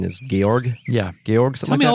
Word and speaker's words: Georg: the game he's very strong Prime indeed yes jorg the correct pronunciation is Georg yeah Georges tell me all about Georg Chris